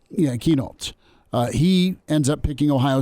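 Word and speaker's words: Kienholz: Oh, Lincoln Keenoltz. Yeah, Keenoltz. He ends up picking Ohio State over Caleb DeBoer and Washington. So hey, we're not going to take a 2023 quarterback has turned into, Keenoltz is too good to pass up.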